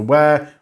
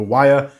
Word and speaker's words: Wyre: also pointing out that I pronounced the river as River where rather than with a wire it's just how I'm